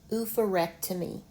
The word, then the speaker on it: oophorectomy: This says F, not oop, but oof. Oof, rec, That's a short vowel. T, me. Oophorectomy. Oof, a, rec, to, me. Oophorectomy.